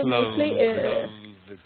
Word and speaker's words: clothes: In clothes, there's clothes. In a way, clothes. You don't pronounce the E. The E is a bit silent or weak there, Yes.